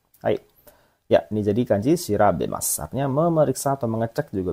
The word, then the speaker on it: 調べます: Ini kanji bacanya shirabemas.